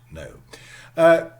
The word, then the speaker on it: know: out as no but we still write know yeah no is the spelling and we pronounce it no nokian okay yeah knock